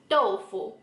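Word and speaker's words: 豆腐: In Chinese we call tofu doufu. So you can see that the pronunciations are really similar.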